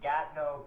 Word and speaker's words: Gatineau: It's actually Gatineau, Quebec, is where the tournament's held.